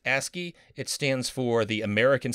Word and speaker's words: ASCII: dot ascii capable by the way ascii is pronounced ascii it stands for the american standard code for